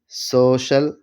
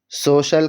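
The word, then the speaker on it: social: تلفظ ہوتا ہے، جیسے سوشل، اوشن، اسپیشل۔ سوشل کے اندر سی کے بعد آئی اے ہے تو شین کا تلفظ ہو رہا ہے۔ اوشن سمندر، اوشن کے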